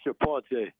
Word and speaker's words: Chapon: way or the other well it depends where you're from but my family is from St Mary Parish and we say chapon I told yeah well